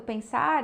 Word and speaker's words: pensar: Então, seria muito estranho que o acorde Fá sustenido menor entrasse no pen, porque a sílaba tônica do pensar é sar, né?